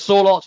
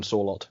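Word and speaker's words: Sørloth: I think it's Sorloth you pronounce it. I can't really get it right. I've heard commentators just dropping the H and calling him Sorloth.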